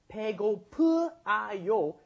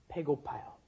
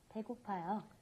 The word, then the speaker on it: 배고파요: You would have to add 배고프아요. 배고프아요 is almost impossible to pronounce, so it becomes 배고파요.